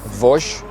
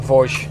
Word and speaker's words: Vosges: We are on our way to an area in France which is called Vosges. I believe that's the correct pronunciation.